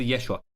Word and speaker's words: Yeshua: Resucitando ahora en su tiempo, en Arameo se pronunciaba como Yeshua para abreviarlo, pero todo cambió cuando el Nuevo Testamento fue escrito en griego.